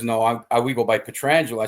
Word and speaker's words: Pietrangelo: sisters um so but Alex pronounces his name petrangelo and so we had a family I don't know where we were and I said Alex listen it's Peter Angelo and he says no